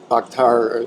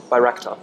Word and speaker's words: Bayraktar: Because we've already talked about the Bakhtar, am I pronouncing that right? Bayraktar.